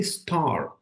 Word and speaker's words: star: So the R, most of the times is silent. So you're not going to say star, star. You're going to say star, star. Okay? A is a hard sound here. Star, star. Yeah? R is silent in British English.